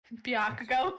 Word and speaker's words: Bakugo: working his way bakugo bakugo bakugo bakugo is how you say it so they yell at